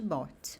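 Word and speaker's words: bought: Aqui é como se a gente tivesse ignorando a presença do U, do G e do H, e a gente está falando somente bot.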